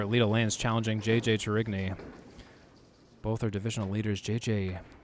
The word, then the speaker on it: Tourigny: I was putting a bit too much of an Italian spin on his last name in a previous broadcast, or just in my head. But I confirm with JJ, it is pronounced Tourigny.